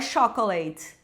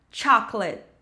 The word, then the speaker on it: chocolate: com a primeira, porque muitos alunos olham para essa palavra e pensam: "Nossa, é igual o português, então vai ser a mesma pronúncia". Não, então eu escuto, né, muito chocolate, mas não é chocolate, é chocolate. Chocolate.